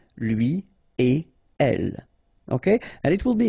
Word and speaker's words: lui et elle: Don't think about producing something like lui et elle. No, no, no, nothing here. Lui et elle.